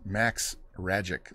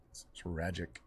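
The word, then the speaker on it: Rajcic: name his name is Max ragic like magic it's pronounced like magic it's ragic we're actually G to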